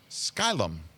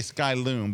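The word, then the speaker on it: Skylum: our fine friends at sky l'm saying it right yes you are I want to say sky loom but it's not it you can say anything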